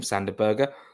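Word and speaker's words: Sander Berge: That is how you pronounce his name, Sanderberger.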